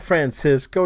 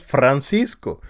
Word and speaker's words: Francisco: No, it's not Francisco. It's Francisco.